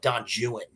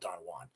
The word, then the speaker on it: Don Juan: We're going to talk, purists, by the way, will call it Don Juan, but we're going to continue to call it Don Juan because of the rhyme within the poem.